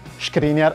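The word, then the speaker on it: Škriniar: ovviamente milan screen e prima che iniziate a scriver melo nei commenti screener e la pronuncia corretta lo slovacco è un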